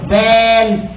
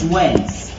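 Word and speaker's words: Waals: والاي ايونيك بوند اللي انتوا سمعتوا عليها زمان حاجه اسمها الرابطه الايونيه، والفي فاندر فالز فورسز، بتتنطق فالز مش والز، ليه؟ عشان ده راجل الماني بيتكتب بالدبليو بس بيتنطق بالفي.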